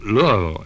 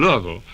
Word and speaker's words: Louisville: And in Louisville, as we pronounce it, in Louisville, in those days, there were touring companies, and